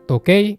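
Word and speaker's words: 時計: Di atas kan tulisannya toki ya. Tapi ini bacanya cuma to aja. Karena dia termasuk cara baca khusus. Jadi ngafalinnya harus dipisah. Kanji ini bacanya tokei, artinya jam.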